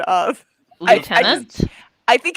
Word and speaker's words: lieutenant: I say Lieutenant because. All of my English friends besides you say lieutenant. Yes. Like as if it has an F in it.